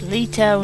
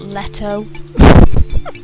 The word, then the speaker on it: Leto: is an exhausting exercise it's lito not leto excuse me while i